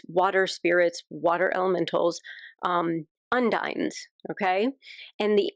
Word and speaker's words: Undines: So, so how do you spell that? U N D I N E S. Okay. Cuz I thought at first he said und like they're going to be your undoing.